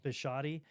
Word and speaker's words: Bisciotti: Bisciotti.